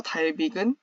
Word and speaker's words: Dalvik: 여기서 달빅은 특별히 모바일 기기를 위해 설계된 가상 머신인데요.